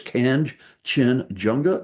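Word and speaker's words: Kangchenjunga: of all these mountains, so it's Kanchenjunga. That's the 3 syllables. Hope that whoever called me or wrote me or commented will be happy with that. I'm still working on Dhaulagiri. So anyway, Kanchenjunga.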